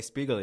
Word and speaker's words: Spiegel: Yes, my name is Spiegel. How's my pronunciation? It was good. People say Spiegel usually. Spiegel.